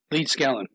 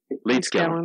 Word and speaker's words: Leedskalnin: So in my research, I focused on Edward, how do you pronounce his last name? Leedskalnin. Leedskalnin, that's it.